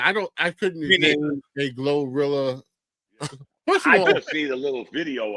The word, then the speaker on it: GloRilla: way you pronounce it glorilla it's glow with a l yeah but it's it's glorilla it's why you ugly